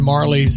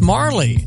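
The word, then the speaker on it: Majerle: He said Dan Marley's how you say it. I looked that up online and had the pronouncer, and some person had it majorly, and I said, I think it's Marley.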